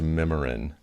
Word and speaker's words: Mimiran: stubborn to change it okay so it is pronounced memorin yeah that's right great it looks like MiMi